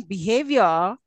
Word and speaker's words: behavior: the word accent now if I say behave if have is accented so also in Behavior again Havier is accented did you notice yeah'